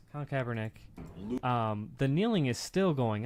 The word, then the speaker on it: Kaepernick: So say, but he when doesn't the act Kaepernick like thing one.